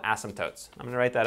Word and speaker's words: asymptotes: So asymptotes. I don't really know why the P's in there, you don't really say it out, but it's how you spell it.